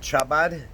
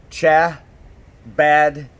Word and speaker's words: Chabad: who have heard of Chabad House it's spelled CH a BA D and you actually have to give that CH sound Chabad so it's not really Shabbat and it's not how bad but how about like